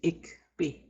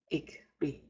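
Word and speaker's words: ikbi: The first example word you see there is ikbe. Ikbe. Ikbe. Both the I's have a short sound.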